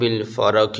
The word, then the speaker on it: الفرق: علی سیدنا محمد صاحب الفرق، یہ قاف موٹا ہے، نقطے والا ہے، صاحب الفرق والفرقان وجامع